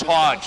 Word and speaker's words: Hodge: if it went through it is Hodge that's how they pronounce